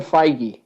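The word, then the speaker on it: Feige: head of Marvel yeah Kevin figy okay that's how you say it FY FY FY well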